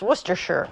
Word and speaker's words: Worcestershire: I know that this, even though it's spelled as Worcestershire, I know it's pronounced Worcestershire.